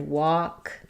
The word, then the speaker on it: walk: We also have it in words like talk and walk. It is silent, but the L will sometimes affect how what is happening for the vowel sound.